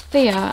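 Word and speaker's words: Fiyyah: as i've mentioned and the way you spell it is definitely different to what i'm used to like i didn't expect it to be called that it's f i double y a h definitely a lovely brand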